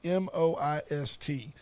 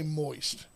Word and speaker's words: moist: to say the word m-o-i-s-t we all say moist and if you're not careful it is almost two syllables moist it's hard to get